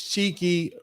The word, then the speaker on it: Chikei: Now, Rick Chow's full name is Cheeky Rick Chow, and that is spelled Chikei, Rick Chow.